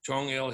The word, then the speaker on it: Chungil: Should we call you Chungil or Yeah, Chungil is correct.